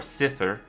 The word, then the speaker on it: Cipher: this strange man well his name's cipher uh he pronounces it more sither but we just call him cipher because it's easier for us us to pronounce uh